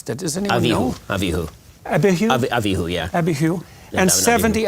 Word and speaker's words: Abihu: Went up Moses and Aaron, Nadab, and Abihu. How do you pronounce that? Does anyone know? Abihu. Abihu?